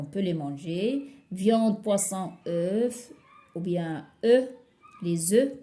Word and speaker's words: œuf: Viande, poisson, œufs, ou bien œufs, les œufs, comme j'ai dit l'autre fois. Pour un œuf, je prononce le F.